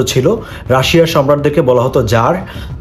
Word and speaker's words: Tsar: Russian যে সাম্রাজ্য ছিল রাশিয়ার সম্রাটদেরকে বলা হতো জার। টিএস এ আর এটার উচ্চারণ হয় জার।